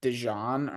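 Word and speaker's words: DeJean: literally today that apparently he wants it pronounced like dejon or something weird like I saw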